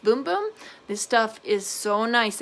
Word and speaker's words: Bum Bum: I know it says Bum Bum, but I guess in Portuguese it's pronounced Boom Boom.